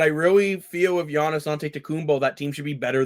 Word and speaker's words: Antetokounmpo: Antetokounmpo. Wow, dead perfect. You just pronounced that perfect.